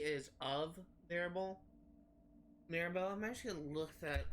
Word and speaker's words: Mirabeau: a close confidant of the king and of Mirabeau.